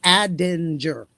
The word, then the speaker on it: Aldinger: And it was hard for me to say his name at first, so I always said Nick A. Brenda, don't kill me for it. Oh, my God. But it's Aldinger.